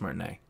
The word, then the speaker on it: Martinet: Recently, it has been announced that Charles Martinet is no longer the voice. Martinet? I think it's Martinet. It is Martinet. Mm-hmm. Charles Martinet is no longer the voice of Mario moving forward.